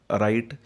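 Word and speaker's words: write: आता पहिलं पहा, राईट, त्यामध्ये डब्ल्यूचा उच्चार केला जात नाही. डब्ल्यू हे सायलेंट आहे म्हणून त्याखाली अंडरलाईन ओढायची आहे.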